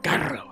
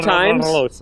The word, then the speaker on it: Carlos: Mike, can you roll your R's? Yeah. Can you say Carlos and roll your R? Carlos.